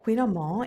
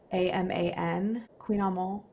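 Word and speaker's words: Kouign-amann: Quinamon, it's the most wonderful.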